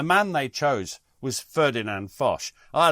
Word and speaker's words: Foch: It So just- we will go with the more relaxed Fosh, anglicised version of Fosh.